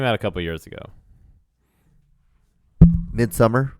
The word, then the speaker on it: Midsommar: Midsummer. Yeah, Midsommar. It's spelled like a Nordic word. Oh, Midsummer.